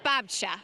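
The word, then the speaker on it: babcia: And first of all, I just have to point out the two is pronounced babcha from your resident Polish girl, which means grandmothers in Polish out of my golden girl.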